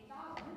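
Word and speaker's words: Bodhrán: This is called a Godwin or Rowan, depending on who you ask. It is not spelled as it sounds.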